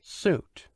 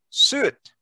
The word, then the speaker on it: suit: Suit. Suit. Where is the suit? Suit. Suit. Suit. No, suit. Can you say it? Suit. Suit. Suit. Not shoot. You say suit.